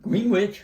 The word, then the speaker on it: Greenwich: Wonder why the W is silent. I don't know. It gets me every time. I know. I have to think about it Yeah. before I say Because it's about Greenwich.